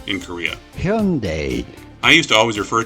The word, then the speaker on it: Hyundai: Here's the correct pronunciation in Korea. Hyundai.